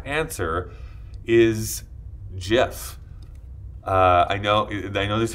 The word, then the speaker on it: GIF: an engineer a CompuServe the correct answer is Jeff I know they know there's a huge debate on here about how he actually pronounced that but I'm going with how they